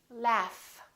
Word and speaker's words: laugh: give you another example the word laugh this G H is actually an F sound right there's no vibration